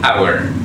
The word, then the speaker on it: hour: An hour. Dalam pronounce-nya huruf H atau H itu tidak di-sounded, tidak disuarakan. Berarti jadi an hour.